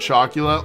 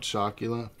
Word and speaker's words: Chocula: Count Chocula? What's Count Chocula? Chocula. How do you spell that? Chocula. Like Dracula, but chalk.